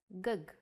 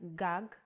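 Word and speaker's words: גג: see this word written you might want to read it as gug there is no vowel sound in Hebrew the vowels are often not written you would know that this word is pronounced gag because it has been taught to you before and this is why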